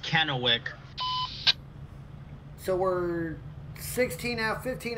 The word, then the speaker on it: Kennewick: is a long one 15 hours Ryan it's pronounced Kennewick so we're 16 out 15 hours away from